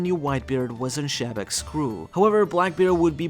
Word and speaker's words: Xebec: pronunciation of the word Xebec rather than the English one. So keep in mind it's not pronounced Xebec or Xebec, but with a softer J like in French, though the pronunciation of